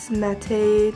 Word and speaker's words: mate: Mate teas again. Yeah, that's how you say it.